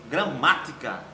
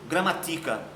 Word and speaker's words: gramática: Gramática. Olha lá, gramática, tá certo? Eu não pronuncio gramatica, é gramática. Então, se é gramática, ela é acentuada na sua antepenúltima sílaba, portanto, uma proparoxítona, ok?